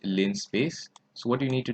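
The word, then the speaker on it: linspace: the line space function i believe it's pronounced lin space so what you need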